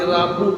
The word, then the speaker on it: Rabu: Rabu aja. Rabu. Hari Rabu. Jarang yang bilang Rabu. Bangan apa? Ah, jangan lama-lama. Rebo aja.